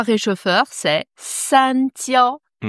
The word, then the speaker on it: 焦: Ce caractère, réchauffeur, en chinois, c'est jiao. Tiao. Jiao. Premier ton. Pour moi, le plus simple pour le prononcer, c'est de mettre un D devant, en fait.